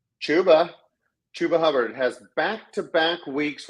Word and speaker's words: Chuba: over my last player his name rhymes with schuba it is chuba chuba Hub has backtack